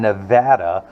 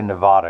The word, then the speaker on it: Nevada: someone there in Henderson, Nevada. I'm so tempted to say Nevada because I'm lazy, but I believe it's pronounced Nevada.